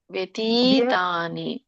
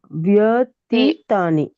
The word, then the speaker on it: ವ್ಯತೀತಾನಿ: okay ಯ ಬತ್ತಿದೆ ವ್ಯ ವ್ಯತೀತಾನಿ ವ್ಯ ವ್ಯತೀತಾನಿ ಜನ್ಮ ವ್ಯ ಒಂದು ನಿಮಿಷ ಮಾತಾಜಿ ವ್ಯ ಸ್ವರ ಕೂಡಬೇಕಲ್ಲ ಅದಕ್ಕೆ ವ್ಯ ವ್ಯತಿತಾನಿ ಸರಿನ ತೀತಾನಿ ಇದೆಯಾ ಅಲ್ಲಿ ದೀರ್ಘ ಇದೆ ನೋಡಿ ವ್ಯತೀತಾನಿ ಎಳಿಬೇಕಲ್ಲ ವ್ಯತೀತಾನಿ ತಿ